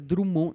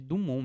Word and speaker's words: Dumont: Kaique, Dumont é de Santos Dumont, com T mudo no final. O pessoal escreve Drummond. Não é Drummond, gente. Drummond é outro cara. É de Dumont mesmo.